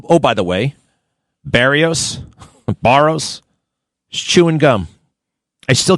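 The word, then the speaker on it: Berrios: The name is Baros, not Barios. It's just a little thing. And, oh, oh, by the way, Barios, Baros, he's chewing gum.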